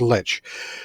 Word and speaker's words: lich: book is the necromancy spell lich that's how i pronounce it i don't care how you think it's pronounced it's pronounced lich so as a lich